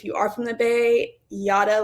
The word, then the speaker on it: Jara: So, like I said, my name is Yada. It is spelled Jara, but it's pronounced Yada, like yada, yada, yada.